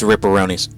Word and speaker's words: Ripperonis: I mean, if you spell it like pepperonis, then it's fine. Then it's right. Neil, can we get an executive decision on this? It's Ripperonis.